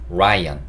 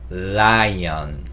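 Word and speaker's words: lion: 하는데 그냥 우리가 생각하는 제가 한국어 발음식으로 해봤을 때 라이언 라이언 라이언 이게 아니고 혀를 위니드에 갖다 대시면서 라이언 라이언 이렇게 하셔야 돼요 그리고 l은이 소리가 나거든요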